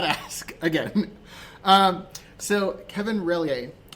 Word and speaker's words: Relyea: Relyea. Relyea.